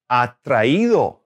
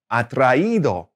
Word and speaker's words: atraído: Now, when you're using the past participle, attracted, it becomes atraído, atraído. Okay? So it's kind of helping you maintain the right stress in the right syllable.